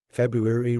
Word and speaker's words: February: February Ru ER okay this is actually a word that's mispronounced by lots of students because they sometimes say February it's not February you it's February rer r r February Ru ER now you've got it